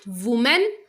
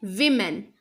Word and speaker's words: women: Is it woman? No. This should be women, women.